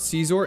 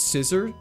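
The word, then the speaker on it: Scizor: It's not Caesar, it's Scissor. There's no way it's meant to be pronounced as Scissor, right?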